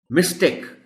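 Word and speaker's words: mistake: अगर वर्ब है तो मिस्टेक कहेंगे, टेक को थोड़ा सा लंबा करके कहेंगे, और अगर नाउन है तो फिर टेक की आवाज आएगी, टेक की नहीं आएगी.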